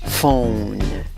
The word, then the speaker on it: phone: ¿Cómo pronuncias la palabra? Phone, phone.